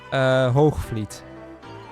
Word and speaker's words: Hoogvliet: Hoogvliet is how you pronounce that. Now, I will have said it with a fairly southern Dutch accent, which to Weech may sound a little... Well, I mean, he knows where I'm from, so he knows, but it's probably not how you actually pronounce it around there. Yeah, the soft G is, yeah, V is in the second syllable.